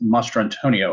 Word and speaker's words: Mastrantonio: Mary Mastranio. I'm mispronouncing that, and I apologize. Mary Elizabeth Mastrantonio, I believe.